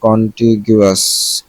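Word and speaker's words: contiguous: কন্টিগুয়াস বা সেটা উচ্চারণটা একটু দেখে নেই। আমি তো জানি কন্টিগুয়াস, কন্টিগুয়াস, কন্টিগুয়াস আর কন্টিজিয়াস। কন্টিজিয়াস আলাদা জিনিস। কন্টিগুয়াস আমি যেটা জানতাম সেটাই।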